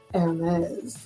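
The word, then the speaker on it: Hermès: And Hermes, they'll say it like, Hermes.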